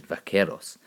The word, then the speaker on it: vaqueros: the Mexican Cowboys which were called Vaqueros Spanish pronunciation is in great there that's that's what what it is Vaqueros and so basically we know that America managed